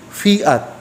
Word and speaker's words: Fiat: marich pangita pangayo sa gitawag fiat f i a t fiat opronounce na fiat naa din na ang